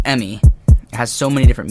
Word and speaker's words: ME: It spells the word me, but it's pronounced Emmy.